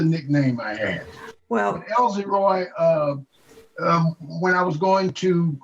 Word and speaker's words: Elziroy: Well, you got to spell it right. It's Elziroy. Elziroy.